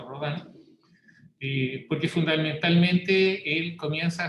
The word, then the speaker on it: Rodin: O Rodin, que se escribe Rodin, se pronuncia Rodin, porque fundamentalmente él comienza a hacerse preguntas de la misma escultura como disciplina.